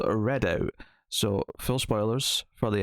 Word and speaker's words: Redoubt: Well, see, I don't know, because I go to say it, and I feel like Redoubt just sounds better, but like because it is spelled with the B, like doubt.